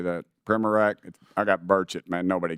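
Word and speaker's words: Primorac: Primac, is that correct? How do you say that? Primac? I got Burchett, man. Nobody gets mine right, so don't worry about it. What is it, Primac?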